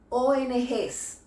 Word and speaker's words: ONG: "s", es decir, que aunque escribamos las ONG, cuando hablamos decimos las "oenegés".